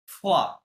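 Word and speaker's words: froid: ইল ফে ফোয়া।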